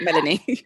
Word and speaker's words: Melanie: And we've got Melanie with us. And I've just said that wrong, haven't I? No, absolutely fine. That's how you pronounce it, Melanie.